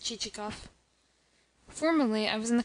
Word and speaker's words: Chichikov: Excellent, but not what I want, pronounced Chichikoff.